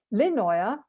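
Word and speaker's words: Lindøya: experience began to unfurl lenoya that don't pronounce the d was first camped on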